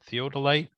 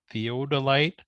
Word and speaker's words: theodolite: one right there's an app called Theo Delight theodolite theodolite um and what it does is it's like